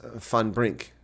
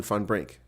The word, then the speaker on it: van Brink: down and out so my name is pronounced fan Brink Ean fun Brink okay well that doesn't